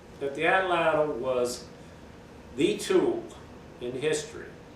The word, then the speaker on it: atlatl: In Ohio, they say atlatl. In Wyoming, they say atlatl. But some people believe that the ATL, ATL is the same syllable pronounced twice, and they'll say atl, atl.